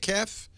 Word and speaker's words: KEF: You pronounce that KEF? You do. Okay, that's good to know. KEF. I always said KEF.